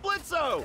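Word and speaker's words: Blitzø: hey that sounds like blitzo the O is silent hey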